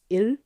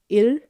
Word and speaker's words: 일: numbering systems is il, il, but il also means day. It also means work, but we're not worrying about that for now. And it's the same pronunciation. So il, il, il. It's like ill, but you're not really